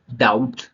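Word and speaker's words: doubt: ना पढ़ के दादा पढ़ेंगे फिर आता है डाउट है ना अब यहां डाउट डाउट डाउट नहीं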